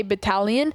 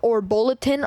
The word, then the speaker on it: battalion: I didn't know how to say battalion, so I always said like bulletin, or I said something along the lines of that.